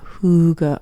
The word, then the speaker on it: Hygge: I kind of don't like Hygge just because of the word.